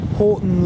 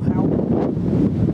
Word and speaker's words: Houghton: Horton Lock, or Houghton, whichever way you want to pronounce it.